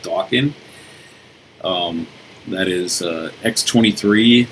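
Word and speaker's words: Daken: is the son of Wolverine most of you pronounce it daon but it's actually pronounced Doan um that is uh x23 that's a good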